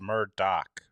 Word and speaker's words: Murdoch: one who told me I've been pronouncing murdog wrong the whole time it's Murdock mdock kind of like um The A Team right wasn't that Murdoch thank you Louis Louie